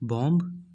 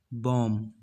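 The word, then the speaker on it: palm: यू do sweater की बंब नो it's wrong because 20 silent just speak पॉम पॉम कि Hindi meaning बम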